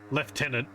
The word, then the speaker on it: lieutenant: okay there we go leftenant it's the English way of pronouncing Lieutenant you're spelled the same